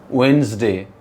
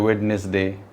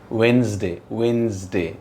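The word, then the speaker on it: Wednesday: वेंसडे, कुछ लोग कहते हैं वेडनेसडे, गलत होता है. वेंसडे, डी बिल्कुल साइलेंट होता है.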